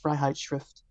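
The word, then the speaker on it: Freiheitsschrift: um his freedom essay so in German it's pronounced fright shrift um and I was captivated by this text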